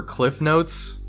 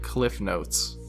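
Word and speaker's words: CliffsNotes: It's a small difference, but everyone I talked to called it Cliff Notes. Now, I can concede that it was always called Cliff's Notes on paper, but everyone pronounces it without the S because it's just easier to say.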